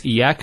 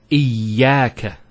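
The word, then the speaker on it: إِيَّاكَ: Iyaka. Notice the ya gets a double vowel because of the shadda there.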